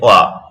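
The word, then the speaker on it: は: ওয়া হয়ে যায়। দেখেন হা যখন সেন্টেন্সে পার্টিকেল হিসেবে বসে, হা যখন সেন্টেন্সে পার্টিকেল হিসেবে বসে তখন হা এর উচ্চারণ কি হয়ে যায়? ওয়া হয়ে যায়, ওয়া।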